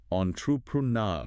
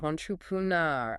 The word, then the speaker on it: entrepreneur: That last syllable, nar, gets the main stress. It's kind of like the sound in Blair, but maybe a bit longer. Entrepreneur. Entrepreneur.